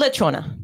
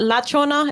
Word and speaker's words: lechona: It's called lechona. So it's not lachona. It's lechona. Apparently, there's a difference. Le and la.